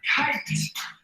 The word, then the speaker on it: kite: e silence e here's the word kit i says in add silent e to the end of the word now you have kite i says here's the